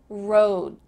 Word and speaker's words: road: Something happens with that D sound that we've already talked about with the T. It isn't really pronounced. Your mouth is in the position to say it, but there's really no air that comes out. So let's practice saying road. Not road, but road. Your tongue is there in place, about to make the D sound, but there's no